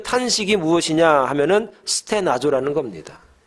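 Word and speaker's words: στενάζω: 이 탄식이라는 말은 헬란 말로 스테나조 이렇게 발음을 합니다.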